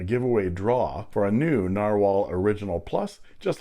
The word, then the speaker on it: Nahvalur: And here is the Narwhal, pronounced Narwhal, but spelled Nahvalur. Narwhals, they are narwhals. This is the new logo and new name for Narwhal. Apparently it's Icelandic for narwhal, but pronounced the same.